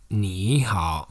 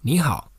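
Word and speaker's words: 你好: When there are 2 third tones in a row, the first syllable is pronounced with the second tone so that it's easier to pronounce it.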